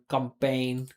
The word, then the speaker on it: campaign: So she's like almost, she's just not pronouncing the vowel at all in the first syllable, right? And I'm pretty sure like campaign, like these are both stressed. Vowels with pain being the primary stress, right?